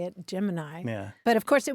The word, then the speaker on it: Gemini: may be surprised at the way that they pronounce the name of the Space Program the one that spelled GE m i n i how do you say it most people say